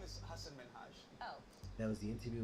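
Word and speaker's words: Hasan Minhaj: it's Min yes no really my name is Hass min oh there was the interview with Katy Perry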